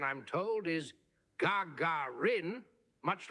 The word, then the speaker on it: Gagarin: this is the Garin oh my God sorry gagaran wait hang on Mark how do you pronounced gagaran ah a fine question indeed the pronunciation I'm told is Gagarin much like the the soft calls of a